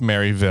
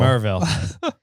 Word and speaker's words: Maryville: It's not pronounced Maryville. No, they don't pronounce the Y. Yeah. I don't know why. It's spelled that's what Maryville, they don't do. But it's pronounced Merville. Merville.